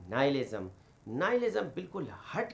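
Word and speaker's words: nihilism: और ये देखें कि इसका जो फलसफा है नालिज्म इसकी मैं स्पेलिंग भी रिपीट कर रहा हूं। एन आई एच आई एल आई एस एम नाइलिज्म जिसकी डेफिनेशन मैंने आपके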